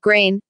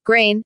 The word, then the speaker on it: Green: Her paternal surname Green is Swedish and pronounced Grain. Grain, it does not originate from the English word green, color, which is G-R-O-N in Swedish.